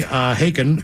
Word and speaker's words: Haken: Guys, I want to wish a big happy 40th level up to my best buddy, Haken, pronounced like Haken Loogies.